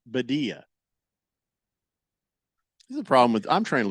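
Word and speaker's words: Birria: No, I mean, I pronounced it the American way, which is to take a perfectly good word in Spanish and then bastardize it.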